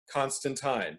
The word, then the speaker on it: Constantine: it from alan moore constantine because he's british and it's post vowel shift okay fun facts let's